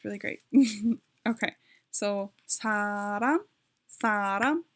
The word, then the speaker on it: 사람: Okay, so 사람, 사람 is like 2 syllables.